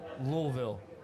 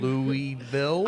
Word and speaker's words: Louisville: There's a group of men upstairs, and they stand up and meet Lauren, and then they're explaining how to pronounce Louisville.